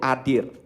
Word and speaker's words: adir: Jadi di perkataan dari ini ya, kata-kata mulianya itu berasal dari kata Ibrani atau bahasa Ibraninya itu adir. In English is spelled as A-D-I-R.